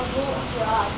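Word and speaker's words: Volksraad: The V is pronounced with an F. So it still sounds like field, right? It's Feld, except you spell it with a V. And that thing is consistent. You have Volksrad. It has a V instead of an F, but it sounds like an F.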